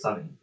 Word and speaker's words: Sony: Well, technically it's supposed to be pronounced Sunny.